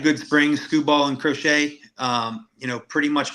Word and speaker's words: Crochet: this game we got scooo and C crot crochet crochet I had to be corrected before we went live I was mispronouncing that name so uh what do you